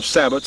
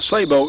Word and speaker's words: sabot: And a lot of people call them sabots. I think the actual French pronunciation was sabot.